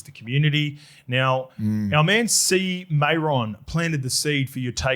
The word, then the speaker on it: CMAEORN: So when that does arrive, C Mayron, so it is spelled, Lukey's got it here, CMAEORN.